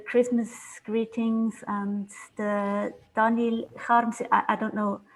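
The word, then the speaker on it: Kharms: He would pronounce it Harms, so he became Daniel Harms.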